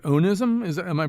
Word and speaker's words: onism: of your words which I believe is pronounced onism is am I pronouncing it correctly o n i yeah that's right onism yeah so this has nothing to do with